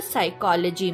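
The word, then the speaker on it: psychology: का प्रदर्शन करते हैं नाइफ में क तो साइकोलॉजी में प उच्चारण रहित होता है मैं खुश किस्मत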